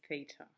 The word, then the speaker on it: theta: that little symbol that I've just drawn is Theta it's called feet I it's a Greek letter pronounced theta other Greek letters that we use